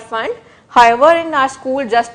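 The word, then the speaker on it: Pfund: Okay, again P is silent here, it's called Fund. However, in our school, just to remember the spelling, we used to call it P Fund.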